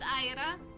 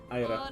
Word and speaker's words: Ayravite: I am joined today by, let's go alphabetical order, Ayravite? Am I pronouncing your name right? Hello. Yes, you can pronounce it Aira. Ayra.